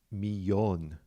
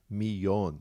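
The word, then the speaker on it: millón: and just remember that million is miyon miyon with that accent on the o all right let's go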